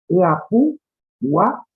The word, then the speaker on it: Yapuguay: Lo voy a escribir en el chat para que se pronuncie esta palabra por ahí, porque se lee Yapuguay así como suena, ¿no? Yapuguay. Pero es Yapuguá.